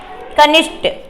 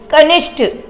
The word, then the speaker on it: कनिष्ठ: कनिष्ट य पर देखिए कनिष्ट लोग उच्चारण करते हुए क्या कर देते अशुद्ध कर देते ना कि कनिष्ठ का क्या आएगा कनिष्ठ जो है ठ में बदलेगा क्या होगा कनिष्ठ अगला देखिएगा य पे